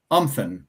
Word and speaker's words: Umthun: Um, so it's pronounced umpen, like something with no s.